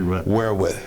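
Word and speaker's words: Wereth: field artillery unit in verus Belgium mm-hmm that pronounced correctly we're with we're with we're with as in we're with all right we're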